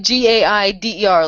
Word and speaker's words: Gaider: It's actually spelled like Gaider, like Raider, except with a G.